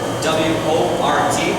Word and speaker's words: wort: It will strain out all those grains from our sugary water, which is called wort. W-O-R-T. It's spelled, pronounced wort though.